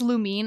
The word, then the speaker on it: Lumine: I heard lumine pronounced I know it is lumine and I do say lumine I have heard some people say Lumin and I'm like no that that's not it yeah it's I say lumine which I know is the right way to say her name but I'm I hear some I've heard Lumin before and I'm like who are you talking about she longed to live